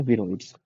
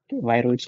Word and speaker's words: विरोइड्स: your genetic material now there are विरोइड्स वायरोइड्स कुछ लोग बोलते हैं कुछ लोग विरोइड्स बोलते हैं different pronunciations both are true both are correct now विरोइड्स lack protein